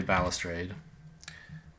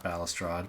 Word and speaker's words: balustrade: Well, I'm reading the pronunciation, and it looks like it says balustrade. Yeah, apparently balustrade. Not balustrade.